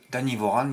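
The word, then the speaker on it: Anivorano: Dan Vorano, Danny Voran, il disent parce que la dernière lettre souvent ne se prononce pas.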